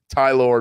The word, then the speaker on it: Tylor: saturday and then sunday is tylor which i just refuse to say a name like that but that's how it says it's said tylor megill tylor uh he spells it like tyler t-y-l-o-r and pronounces it in a stupid way no offense to you